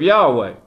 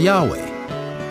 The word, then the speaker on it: Yahweh: that you won't find in the book of Yahweh.